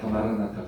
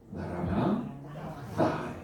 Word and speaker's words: 마라나타: 자, 우리가 보통 마라나타 그러지 않습니까? 정확한 발음이 뭐예요? 마라나 따.